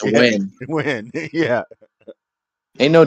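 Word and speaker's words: Nguyen: at least Brandon fgalantai n g u y n and is win win yeah ain't no W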